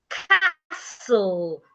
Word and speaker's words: castle: Castle. The T is silent.